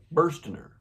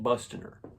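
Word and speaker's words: Burstiner: episode uh incorrectly pronounced Bustiner, which it does not say Bner. It actually says Burener. We can flip it around there. Yeah, exactly. Uh, bursting, not busting her.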